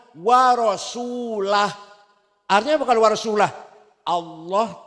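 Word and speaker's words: ورسوله: dan tidak melindung Rasulullah eh salah salah bacanya harus anallahum Minal musyrik wa rasulah artinya apa kalau warasulah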